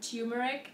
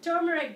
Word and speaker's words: turmeric: turmeric in the West some reason every someone decided to call it tumeric and everywhere I go I'm like turmeric guys look spelling so it is turmeric but if you say